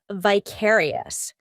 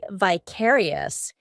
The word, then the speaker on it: vicarious: common now we have vicarious although in American English they're more inclined to say vicarious in British English it's vicarious this one we use in